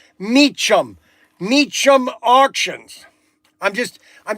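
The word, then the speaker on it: Mecum: It could be a popular car that all of a sudden it sells like like for example uh the Meechum Mechum. This the pronounced pronunciation is Meechum.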